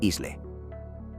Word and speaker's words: isle: La pronunciación, sin embargo, permaneció obstinadamente germánica y nunca recogió esa consonante insertada.